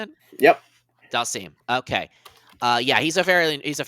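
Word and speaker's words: Dhalsim: Dalsim.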